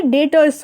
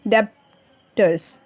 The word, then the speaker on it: debtors: नो, इसमें क्या होता है, जो बी हमारा होता है ये साइलेंट होता है, तो ये डेटर्स होता है. ठीक है, हम क्या पढ़ेंगे? This is डेटर्स, note डेब्टर्स.